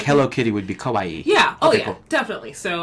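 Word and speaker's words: かわいい: So it's not she's not just pronouncing Hawaii like she's from Germany.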